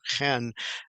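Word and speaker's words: חֵן: It's called chen, and it's kind of pronounced with a CH sound like Bach, the CH of Bach, and it's pronounced Chen.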